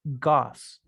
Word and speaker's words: gauze: Esa es la pronunciación, miren, gauze. Muy raro porque miren cómo se escribe.